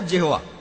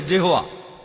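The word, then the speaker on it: Jehovah: আর উচ্চারণ করার সময় তারা সামনে একটা জে লাগায়, আর এটা হয়ে যায় জেহোয়া।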